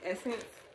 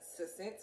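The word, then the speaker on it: SSENSE: seen it before but you probably thought it says like suspense or something like that but really apparently it's essence because i googled the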